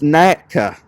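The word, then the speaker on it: Nneka: It's the double N is pronounced ne. So it's NECA.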